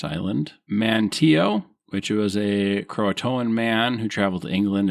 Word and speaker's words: Croatoan: So I'm going to tell you, we're going to do the pronunciations first so that Mike can fact check me later when I forget. We've got Croatoan, which are the indigenous people and the island now associated with the modern Hatteras Island.